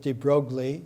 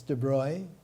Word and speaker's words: de Broglie: of the attendees louie i used to pronounce it de broglie it's de bruy prince louis de bruyne